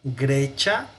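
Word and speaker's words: Graecia: a pronunciar Grecia, porque la C antes de la I suena como chi. Entonces vamos a decir Grecia in Europa est. Sí suena la I, Grecia. Pero obviamente al pronunciarse casi se elimina. Grecia in Europa est.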